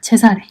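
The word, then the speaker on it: Cesare: 짜르도 그 시저입니다 마지막으로 이탈리아에서는 카이사를 어떻게 발음하냐면 체사례라고 합니다 제사래 이렇게 하여튼 다양하게 각국으로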